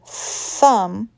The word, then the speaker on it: thumb: voiced or voiceless correct the word thumb is voiceless you are only pushing the air up some feather feather notice